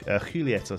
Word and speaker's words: Julieta: 14 with one LW Julieta madreal excellent cook juletta sorry I think it is that's like a h sound I'm not uh you